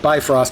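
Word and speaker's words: Bifröst: I wasn't nuts about any of these except maybe the Bifrost. I understand while we pronounce it Bifrost, I think the actual Scandinavians pronounce it Bifrost.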